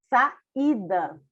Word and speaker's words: saída: Saída. Tá vendo? Você fala o I bem pronunciado. Inclusive, tem um acento agudo no I, dando ali a entender que o I é a sílaba forte, é a sílaba tônica.